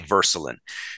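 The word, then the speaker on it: Würselen: town called Versa and it's spelled with a W but you say versaline so there's this little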